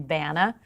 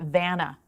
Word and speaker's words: Vanna: best part about that growing up with an unusual name Bana everyone called me everything but Vanna Bona Dania Vanna what is your name